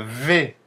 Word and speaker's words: в: le B on l'a vu c'était voilà ça c'est le B russe qui ressemble plutôt à un beta un betta grec ben là c'est le le V alors on pour c'est un V tout simplement voilà ça il